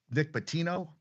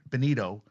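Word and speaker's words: Bonitto: And I I think I said called him Nick Batino and someone on TikTok uh said, "Hey, I didn't know you know." So Nick Bonito, I apologize.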